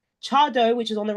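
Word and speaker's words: Tse Addo: the right hand side the one that's spelled TS e a d d o chado is I know the pronunciation doesn't quite match up to how it's said but has how it's written that is now kind of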